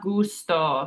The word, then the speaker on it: gusto: And last we have gusto. So G followed by that U makes it a hard G, and it's pronounced gusto.